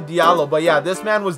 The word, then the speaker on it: Diallo: All over Twitter last night, man, it said his name was Diablo. I was so confused. Turns out his name is actually Diallo.